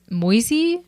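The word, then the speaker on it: Moïse: the old uh Testament no it's m o i s e mois huh I know mois like Mo with an S at the end there was a baseball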